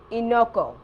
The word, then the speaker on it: enoki: One of the things that she had me get was, how do you pronounce the mushroom? Enoco.